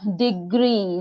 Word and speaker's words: degree: but it's still because it's still the stressed syllable because and because yeah then degree d r double e is underlined so degree